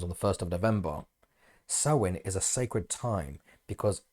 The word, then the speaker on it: Samhain: have Samhain actually despite its spelling it's actually pronounced as sein sa which is the name of the festival which happens on the 1st of November sewing is a sacred time because it is believed